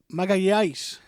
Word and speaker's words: Magalhães: He is good, not as good as Gabriel Magalhaes or William Saliba. Imagine not even being able to pronounce your own players' names, man. How do you say it? Magalhães.